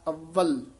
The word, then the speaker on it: अव्वल: औल दीन कर मिठा अवल नहीं कहना इसनु कस के उच्चारण करना अव्वल अव्वल औल दीन कर